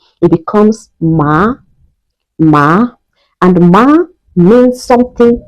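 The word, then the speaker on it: 妈: When we place the first tone on MA, on A precisely, it becomes ma, because the flat tone is pronounced me, me, me.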